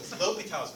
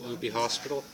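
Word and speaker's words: L'Hôpital's: L'Hopital's rule. Not Loopy Hospital?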